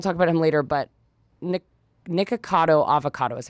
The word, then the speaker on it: Nikocado Avocado: And I think people feel a little stressed because, and we'll talk about him later, but Nikocado Avocado is how you say his name.